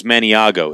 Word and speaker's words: Maniago: It's Maniago. It's spelled Maniago. Maniago Knife Bakers.